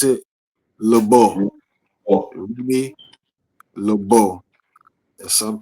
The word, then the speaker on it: LeBeau: with that being said, my number two hero of all time, his name is Remy, and you pronounce it LeBeau.